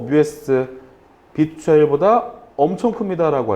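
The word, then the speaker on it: μ: 얘를 여러분 마이크로라고 읽으시면 안 되고, 얘는 어떻게? 뮤라고 읽어주셔야 돼요. 뮤.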